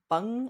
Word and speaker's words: Bang: Do you pronounce it bung? How do you say that word? The bang.